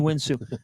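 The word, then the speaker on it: Houinsou: There it is, Kamani Winsu, a last name that starts with Win.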